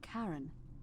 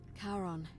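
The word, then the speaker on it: Charon: it's just as you described it only your pronunciation is a little off the name you heard wasn't karen it was c-h-a-r-o-n sharon caron the ferryman of the dead karon who in exchange for the right coin helps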